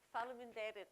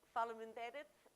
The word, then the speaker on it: Faleminderit: Faleminderit. Okay, so I want to say, for me, Faleminderit, because I'm now going to pass back over to Gustavo, but you've been a fantastic group.